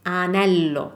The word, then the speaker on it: anello: The word for ring is anello, anello with no G, so no gnocchi sound, anello.